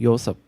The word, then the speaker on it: Yoseop: So in English it's Joseph, but in Korean Joseph. Josep? Yeah, more like Y sound, not like J sound.